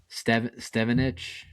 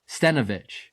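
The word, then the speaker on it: Stenavich: interviews, it's people like Cliff Kingsbury and Adam Stevenich. Adam Stenovich.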